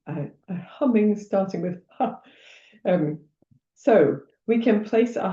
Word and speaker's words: ham: It's written ham m, but it's pronounced hum.